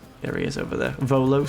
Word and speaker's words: Volo: celibate unless I've course Rolo um has something to say there he is over there Volo sorry I called him Rolo I got his name wrong I've ruined myel with him